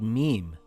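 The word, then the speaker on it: م: This letter is called mim. It is a light letter. Mim makes a similar sound in English to the letter M in the word moon or the word mouse.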